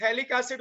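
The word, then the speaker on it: phthalic acid: P silent है, याद रखो, थैलिक एसिड बुलाते हैं, P साइलेंट।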